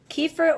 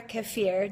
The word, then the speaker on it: kefir: So fermented foods include beer, fermented grape extract, also called wine, kombucha, miso, tempeh, kimchi, sauerkraut, kefir or kefir, depending how you want to pronounce it. Both are correct.